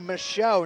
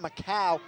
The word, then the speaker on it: Michaud: It's actually Michaud, not Macau. We thank him for that proper pronunciation.